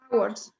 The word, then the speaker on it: hours: Hours. Ok, ¿cómo dije que se decía? Hours, hours. Hours. No hours, hours. Hours. Hours. Hours. Es como este, hour. Pero lleva H. Same pronunciation. Hour.